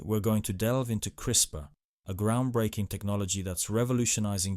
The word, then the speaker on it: CRISPR: busy life today we're going to delve into crisper a groundbreaking technology that's revolutionizing genetics and could transform medicine Agriculture and many other fields in ways we never thought possible what is crisper c i spr pronounced crisper stands for clustered regularly interspaced short palindromic repeats